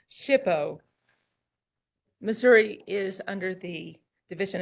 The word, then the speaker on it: SHPO: day and then there's our mascot the shippo hippo just to help you remember how how to pronounce shipo Missouri is under the